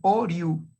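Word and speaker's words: Hauriou: pronuncia muy sencillo, es Oriou, simplemente como si fuera O-R-I-U, y con acento en la U. Maurice Oriou, admitir, Elisa Martínez, decano también de la Facultad de Derecho de Toulouse.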